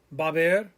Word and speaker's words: haber: Remember, all of these, the H is silent. Hubo, había, habrá, haber, habido.